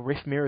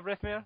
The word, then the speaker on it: Rythmear: later on, or Rythmear, as some people might know him as well. That's right, isn't it? I said it right, didn't I? Rythmear? Yep, pretty much.